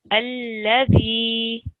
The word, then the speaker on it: الذي: Okay, so again, I heard the Z sound creeping in. Alladhi. Sorry about that. Dementia, grandma. Okay. Alladhi.